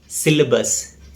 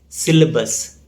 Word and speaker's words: syllabus: The correct pronunciation is syllabus. There is no A sound after L. So the correct pronunciation is syllabus.